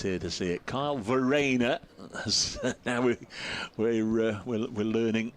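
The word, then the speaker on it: Verreynne: a maximum attendance here to see it Kyle Vena as now we're we're learning is the correct pronunciation also on debut so heaven knows what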